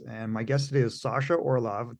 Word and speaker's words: Sasha Orloff: my guest today is Sasha Orloff. Did I say it right this time? You did. You got it. Nailed I said the non-Canadian way.